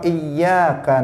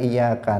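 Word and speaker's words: إِيَّاكَ: Tetapi kalau dirubah, tasdidnya itu dibuang menjadi dia mengatakan iyyaka na'budu, maka artinya kepada cahaya mataharimu kami beribadah. Nah, karena iya tanpa tasdid itu artinya cahaya matahari.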